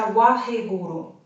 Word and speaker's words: Waheguru: And while we are holding our breath, we are going to mentally chant the mantra Waheguru, as in 3 syllables, even if there are Waheguru, okay?